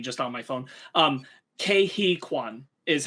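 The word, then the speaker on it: Ke Huy Quan: site uh but i just checked how to pronounce it it's kehikwan gotcha cool uh what was i saying sorry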